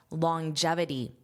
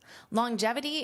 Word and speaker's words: longevity: Now, notice that pronunciation, longevity. So, you hear this J sound even though it is not there in spelling. And that's to help transition between this long this G sound.